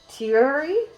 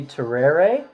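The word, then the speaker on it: tereré: to be doing is I hope I am pronouncing this half decently it's teary at the end I would say that'd be Terraria Terraria Tara Ray or something it is a drink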